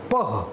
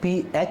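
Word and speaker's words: pH: इसको pronounce पीएच से ही करोगे बालक, पीएच स्केल।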